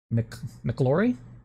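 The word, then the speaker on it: McIlroy: and Roy McElroy McClure how do you pronounce that mcclory mcclory okay sorry it's mcclory yeah it was hard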